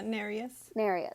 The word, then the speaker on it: Nereus: to the audiobook right is it narus nerolius the the sea god yeah nereus okay they end up in